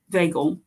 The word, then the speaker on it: vagal: probably mispronounced that one is it sympathovagal or vagil vagel vagel talking about the vus nerve vagel okay suppression of insulin secretion